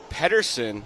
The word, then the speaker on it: Patterson: Patterson, good to have you with us.